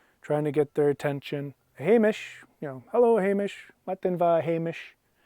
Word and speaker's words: Hamish: night there we are Hamish yeah there's kind of a sh sound at the end now a Hamish this